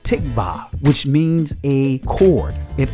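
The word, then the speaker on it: תקווה: for hope is or in the israeli language is pronounced tikvah which means a chord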